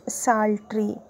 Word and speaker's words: psaltery: ಇದು it begins with P ಇದೆ, ಆದರೆ P is silent. We pronounce it as saltry.